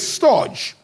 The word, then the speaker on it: storge: Now, the second one, I'll pronounce it in English, but I'm sure the Greeks will pronounce it, is S-T-O-R-G, which is storge.